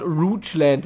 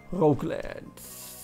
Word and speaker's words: Roguelands: So, ich habe im letzten Part Roguelands oder sowas gesagt, was natürlich falsch ausgesprochen ist.